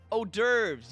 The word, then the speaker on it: hors d'oeuvres: for miss lestridge allow me to confirm something hors d'oeuvres yes that's how you pronounce it thank you coco you claimed earlier